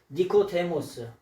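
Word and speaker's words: Νικόδημος: 여기에 말씀해 보니까 이 니고라 한번 니코데모스 요거를 뭐라 그러냐? 니코데모스라고 읽어요.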